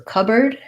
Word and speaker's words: cupboard: It looks like the words cup and board, but we don't say it that way. We say it as cupboard. So this board gets reduced to a bird, just an sound, actually just like the word bird.